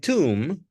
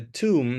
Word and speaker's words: tomb: to continue and um the tomb is this is the correct pronunciation the tomb not Tom or Tom this is the tomb